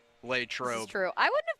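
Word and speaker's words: Latrobe: Yeah, I was going to say notice how she pronounced it, too, which is the correct way. Lay trobe.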